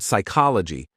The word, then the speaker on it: psychology: for example the word psychology comes from the Greek word psyche meaning Soul or mind and logos meaning study when you know this the silent P makes more sense that's such a good